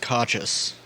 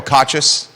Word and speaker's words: Kochis: last name Michael um I've heard it pronounced conscious by nbc29 I believe so Michael cochis yeah okay I was